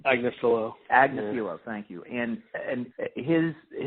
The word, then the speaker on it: Agnifilo: How did Raniere is primarily represented, at least so far, by Mark Afiglio? Am I pronouncing that right? Agnifilo.